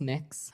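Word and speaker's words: Mx.: Cameron tell me what you're you're proposing it's pronounced mix I'm mix is that how you how would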